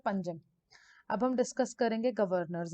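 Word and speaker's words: Panjim: इधर आ जाएगा पंजिम बोलते हैं इसको। वैसे अगर हम इसका स्पेलिंग के हिसाब से देखेंगे तो इट इज पानाजी, वैसे इसको प्रोनाउंस क्या करते हैं, पंजिम।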